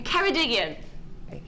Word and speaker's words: Ceredigion: Sarah in in Ceredigion. Thank you. I'm useless at pronouncing things.